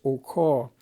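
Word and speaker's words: Okaw: undertake to write it the literal pronunciation is OKO but it is written by Travelers and others Ooa Oka okra Etc as this stream is in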